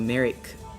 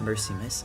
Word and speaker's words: Merrick: It's pronounced similarly to Merrick. Oh, Merrick, not Mercy, my bad. Or Eric with an M in the front.